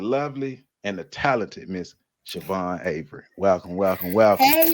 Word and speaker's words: Siobhan: up and so um it's of irish origin it's pronounced siobhan and i believe if